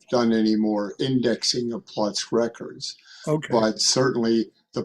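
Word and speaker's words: Płock: Uh, another town that I mispronounced. Plots. P L O C K. Plots.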